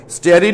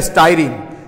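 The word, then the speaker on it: styrene: স্টেরিন না স্টাইরিন? সম্প্রীতি স্টেরিন এবং স্টাইরিন একই জিনিস। কেউ স্টেরিন উচ্চারণ করে, কেউ স্টাইরিন উচ্চারণ করে, দুটাই ঠিক, দুটাই ঠিক। স্টেরিন এবং স্টাইরিন দুটাই ঠিক।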